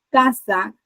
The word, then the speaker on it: casa: En este caso, casa tiene la mayor fuerza de voz en la penúltima sílaba.